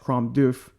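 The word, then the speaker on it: Crom Dubh: o m du U BH and it is pronounced crom doof so I hope again I hope I am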